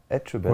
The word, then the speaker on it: Etchebest: Philippe chebest c'est facile à dire chebest. Oui. Bah tu prononces tout en fait en fait tu prononces toutes les lettres dans il y a best le best.